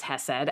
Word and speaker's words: hesed: But there's something about this term hed because and I'll say the English pronunciation is hessed.